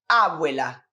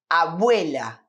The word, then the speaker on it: abuela: Seguinte, porque a sílaba tônica da palavra abuela não é no começo, né? Nós não dizemos abuela, e sim abuela, abuela.